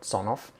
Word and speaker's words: Sonoff: it phonetically so i i call it sonoff because in the early days i saw it written as sonoff and i just read it exactly as i said it and it was